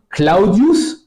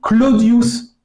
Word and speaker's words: Claudius: Par exemple, le aou va devenir o de petit à petit. Par exemple, Claudius, le prénom, va de plus en plus se prononcer Claudius.